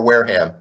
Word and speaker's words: Wareham: Is it Wareham or Wareham? Wareham. I believe it's Wareham.